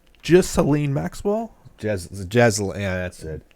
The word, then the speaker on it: Ghislaine: Well, it's probably something easy to say that's spelled weird. Here Maxwell. Yeah, it's like Ghislaine Maxwell. Yeah, that's it. Ghislaine Maxwell, who was arrested by the FBI.